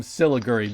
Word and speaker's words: Siliguri: And I am now going to play for you Train from Siliguri. Did I pronounce that right?